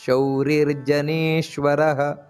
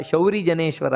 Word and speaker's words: ಶೌರಿರ್ಜನೇಶ್ವರ: ಅಶೋಕಸ್ತಾರಣಸ್ತಾರ ಶೂರ ಶೌರಿರ್ಜನೇಶ್ವರಹ ಅನುಕೂಲ ಶತಾವರ್ತ ಪದ್ಮಿ ಪದ್ಮನಿಭೇಕ್ಷಣಹ ಇಲ್ಲಿ ಉಚ್ಚಾರಣೆಯನ್ನು ಸ್ಪಷ್ಟ ಗಮನಿಸಬೇಕಾದದ್ದು ಅಶೋಕಸ್ತಾರಣ ತಾರಃ ತಾರ ಎರಡು ಸೊನ್ನೆ ಇದೆ ಅಲ್ಲಿ ಹಾಗೆ ಶೂರ ಶೌರಿರ್ ಜನೇಶ್ವರ ಶೌರಿ ಜನೇನೇಶ್ವರ ಅಲ್ಲ ಶೌರಿರ್ಜನೇಶ್ವರ ನೆನಪಿಟ್ಟುಕೊಳ್ಳಬೇಕಾದದ್ದು ಹಾಗೆ ಅನುಕೂಲತಾವರ್ತ ಪದ್ಮಿ